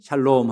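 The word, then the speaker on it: שלום: 자, 다시 옆에 있는 분에게 샬롬 하고 인사하십시다. 발음을 잘하셔야 돼요. 샬롬. 그러지 마시고 샬롬 하고 하나님께서 주시는 은혜와 평강을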